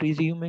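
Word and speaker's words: résumé: The word है रिज्यूमे, नॉट रिज्यूम। रिज्यूम इज an English word but रिज्यूमे इज नॉट an English word. तो रिज्यूम के और रिज्यूमे के spelling same है, लेकिन ये इसकी प्रोनाउंसिएशन में डिफरेंस है, हम इसको रिज्यूमे प्रोनाउंस करेंगे, नॉट रिज्यूम।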